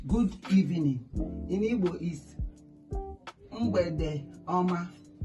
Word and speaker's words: Mgbede: M g b e d e. Mgbede. I always tell you that those digraphs comes in twos. They are one word. They are pronounced as one word.